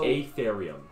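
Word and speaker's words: Afaerium: How do you guys pronounce it? So Atherium.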